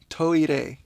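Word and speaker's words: トイレ: So the word toilet is kind of like the Japanese way of saying toilet, and it has this complicated R sound. It's toire.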